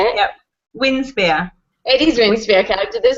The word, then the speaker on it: Winspear: Winspear.